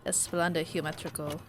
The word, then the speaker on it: Esplendor Geométrico: right from spain so i know technically it's pronounced more in the line of esplanade geometrical but that's not how i'll be pronouncing it and i'll probably